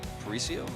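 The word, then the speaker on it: Paraíso: Midtown uh which I haven't commented yet or parisio is that how you say it I say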